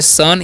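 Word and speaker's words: son: से समझिए लिखा हुआ ओ का जो उच्चारण है अ कब होगा जी तो इससे में एस ओ एन तो इसे पढ़ते है सन यहां पर अपवाद है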